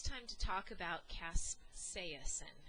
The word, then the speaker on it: capsaicin: Well, now it's time to talk about capsaicin, and that's how you pronounce it, capsaicin.